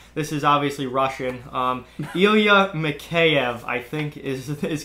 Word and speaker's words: Mikheyev: dark Elia mahai of mikheyev that's actually pretty darn good Brody Elia I think it's mikheyev okay I think Mackay F is the actual pronunciation but you were close